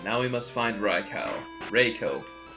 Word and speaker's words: Raikou: I knew a lot of people who used to say it Raikou. It's like, it's Raikou. Like, I have the book, it says the pronunciation right here. It's Raikou. Oh, come on, hoot hoot.